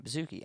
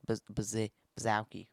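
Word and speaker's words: Baszucki: That's how you say his name, Bazooki. I did a mock recording before this and I said Baz Bazi or whatever and you're listening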